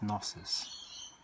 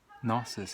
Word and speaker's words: gnosis: Another word for knowledge is gnosis, spelt just like that sounded, but I think it's pronounced gnosis.